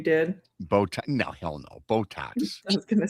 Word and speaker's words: Botox: Butox, that's what I call them. I know how to pronounce them correctly.